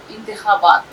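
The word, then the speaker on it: انتخابات: Election को उर्दू में कहा जाता है इंतखाब, इंतखाबात, इलेक्शन। इस तरह से इलेक्शन को उर्दू में कहा जाता है इंतखाबात। खे का उच्चारण सही होना चाहिए।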